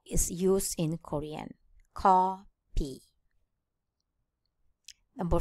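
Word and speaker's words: 커피: In Korean, there is no F consonant. Therefore, it is written in P. Co P. Co P.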